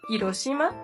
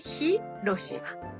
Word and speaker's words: Hiroshima: eso palabras como Hiroshima en realidad sí se pronuncia el H vale muchos dicen Hiroshima pero se dice Hiroshima y bueno nuestra primera